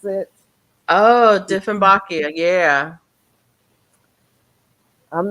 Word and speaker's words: Dieffenbachia: Is that how you pronounce it? Oh, Dieffenbachia, yeah.